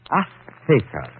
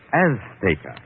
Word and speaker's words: Azteca: Azteca. She gave the Z a TH sound. That's Castilian Spanish. Mexican or any Spanish American would say Azteca.